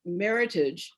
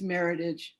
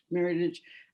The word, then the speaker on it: Meritage: She had written that meritage is pronounced meritage, that it's French. And we said, actually, no, it's meritage, meritage.